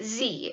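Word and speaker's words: xe: small angry planet and the neutral pronoun used in those books by Becky chambers is Z is spelled X e Sizzix says he's nocturnal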